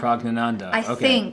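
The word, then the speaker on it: Praggnanandhaa: Can you say that again, just so I can pronounce it right tomorrow? Pragnananda.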